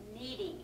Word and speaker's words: kneading: I want you to see it, because now we're going to mash it with our hands, but it's called kneading, and it's spelled K-N-E-A-D-I-N-G, kneading the dough.